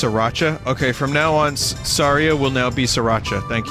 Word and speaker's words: Saria: I think the key to all this is Saraya. That's how I pronounce it. Saria? Saria?